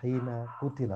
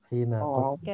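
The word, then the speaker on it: حين قتل: Ini bacanya adalah hina kutila, bukan hina ketika dibunuh. Kutila.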